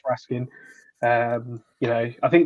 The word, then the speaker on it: Raskin: this out we're asking but people pronounce it rascan I've heard a few people say rascan um as far as I know it's Raskin um you know I